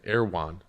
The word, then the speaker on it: Erewhon: Like, how do you get an Erewhon? Or is that how you pronounce it?